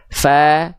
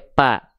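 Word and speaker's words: ف: Fa ada nafasnya keluar jangan sampai pa ya. Jadi enggak ada hilang nafasnya. Salah ya.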